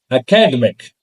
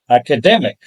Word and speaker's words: academic: Next, we have the word academic with us, which is usually mispronounced as academic because the middle vowel sound is missed. So it is academic, not academic.